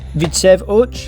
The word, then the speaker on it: Widzew Łódź: Vidsev Uch, yes, that's how you say it, not only